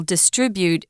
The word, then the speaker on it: distribute: distribute distribute uh the the accent is on that second syllable distribute for the noun or